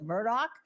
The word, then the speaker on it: Murdaugh: we gotta go outside again we are hot in the case of Alec Murdock and by the way that's how he pronounced his name when he was on